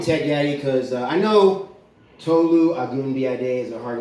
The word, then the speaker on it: Tolu: All you have to do to pronounce Tolu, it's 2 syllables, is just have an